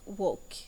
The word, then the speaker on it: walk: we have the last word walk with silent L now write the words